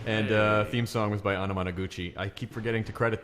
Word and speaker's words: Anamanaguchi: with onomatopoeia that's exactly I asked him how to pronounce their name and they sits like onomatopoeia they see by the way that other voice you hear talking is mr.